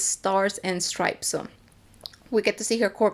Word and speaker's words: Stars and Stripes: I've been saying her name wrong. I'll call her Star and Stripes, but apparently it's Stars and Stripes.